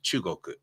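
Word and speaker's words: 中国: But in Japanese, it's pronounced chugoku.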